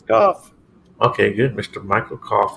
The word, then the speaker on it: Kopf: Is it Kopf? Is that how you pronounce it? It is Kopf.